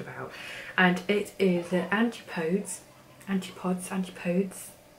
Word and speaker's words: Antipodes: she was talking about and it is a Antipodes aunt ipods Antipodes Antipodes that's how you say it baptize h2o ultra